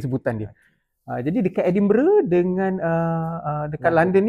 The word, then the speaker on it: Edinburgh: Kita sebut biasanya mungkin Edinbur tapi disebut melalui dialek tempatan gal yang disebut sebagai Edinbur. Edinbur berbeza sedikit sebutan dia. Aa jadi dekat Edinburgh dengan a a dekat